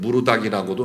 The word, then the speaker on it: 마르둑: 포로 생활하는 중에도 그들은 신바벨로니아의 신 마르둑, 우리 성경에는 무르닥이라고도 나오고 발음에 따라서 마르둑이라고도 하는데 마르둑이라는 이 우상을 숭배하는 일에 더 많이 빠진 겁니다.